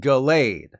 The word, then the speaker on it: Gallade: Yes, it's called Gallade. I always called it Gallade, though in retrospect, the fact that Gallade has